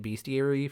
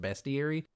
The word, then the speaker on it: bestiary: I've been calling it bestiary for a very long time and I recently saw a video where Josh Sawyer pointed out that it's pronounced bestiary.